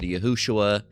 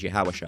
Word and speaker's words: Yahawashi: and and it's not pronounced phonetically correct, you can end up with Yahushua or or or multiple other I don't even remember the other. And then other names aren't even important because they're not accurate. The the correct name is Yahawashi.